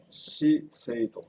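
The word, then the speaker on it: 資生堂: 시세이도 자생당이에요. 예. 그 일본 가서 이거 간판 보시면 예. 시세이도라고 읽으시면 됩니다.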